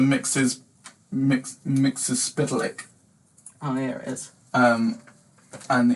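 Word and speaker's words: Mxyzptlk: Mixapatica. Mr. Polk. He's a guy from the 5th dimension who has an impronounceable name, basically. We are such It's I think it's actually pronounced Mr. Mixes Spitalik.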